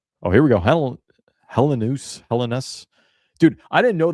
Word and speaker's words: Helenius: I always thought it was Helenius. I I listened to the Amir's pronunciation guide last night and he does say like Helenus. Helen, but he like has like a little bit of a eye before the U for the part.